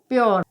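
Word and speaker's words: pure: ई आ रहा है, तो जब यू के बाद आर ई आता है तो यू का उच्चारण यो हो जाता है, तो यहाँ पर पी यू आर ई को क्या हम पढ़ेंगे, प्योर।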